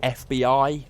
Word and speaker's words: FBI: Phoebe? Yeah. For the last time, Matt, it's pronounced FBI.